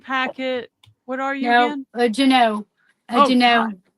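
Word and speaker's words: Jeanneau: Juneau. Juneau. How do you spell that?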